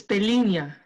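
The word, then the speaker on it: pelinha: interesting i'm not sure how to pronounce that pelina uh rough portuguese for little skin or skin cutie marissa would you like to give us the pronunciation for that it's pelina yeah so it's like that it's kind of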